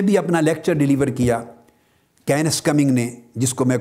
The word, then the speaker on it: Kenneth: اور سائنٹسٹ ہے professor کینس coming. کینس coming, کینس کے سپیلنگ لکھ لیں KENNETH، TH تھا کی آواز دیتا ہے سے کی۔ تو کینس کمنگ نامور